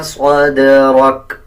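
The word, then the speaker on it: صدرك: सदरका नहीं पढ़ा जाएगा, बल्कि वक़फ़ करते हुए सदरक इस तरह पढ़ा जाएगा।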